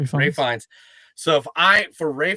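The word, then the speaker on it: Ralph Fiennes: Ray Fines.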